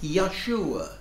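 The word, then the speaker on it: Yeshua: form of name because his name would be pronounced something like Yahshua the more than Aramaic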